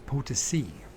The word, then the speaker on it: Potosí: we just say the fucking San Luis Potosí, Potosí, because you have this accent on the end of. So it's Potosi.